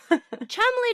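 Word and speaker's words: Cholmondeley: be especially because that long word is just pronounced chumble someone just threw some letters together Chumley does not need that many Conant Conant that's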